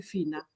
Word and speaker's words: Fina: If I look at your name, if I put on my Kenyan hat, I will call you Fina. Yes, that's how I say it.